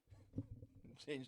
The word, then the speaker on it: Chan: Is Shan Shan, if you CH, does it pronounce Shan Shan? Or is it Khan Khan? That's two different words, bro. CHAN. Khan is KH. But it can't be CH. No, that's Chan.